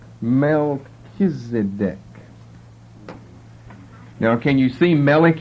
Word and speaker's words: Melchizedek: Melchizedek now can you see Malik in there m-e-l and then all we need is an e that's just dropped out e c h pronounced like a k and there you've got